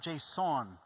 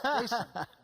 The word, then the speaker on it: JSON: They're like, "It's not JSON, John. It's Jason." And it's like, if that's the problem, I guess I'll give in. But I don't know. I think Jason, like the name, is the way it's supposed to be said, from what I So understand.